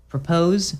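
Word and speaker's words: PR0P0SE: Your Music list, and it's called Propose, except it's spelled PR0, P0SE. Okay. So it's spelled with zeros.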